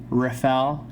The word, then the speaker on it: Rafael: all you out there rafael is the way to say it but you can refer